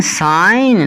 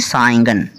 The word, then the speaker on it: sign: तो SIGN साइन, ना कि साइंगन, ठीक है।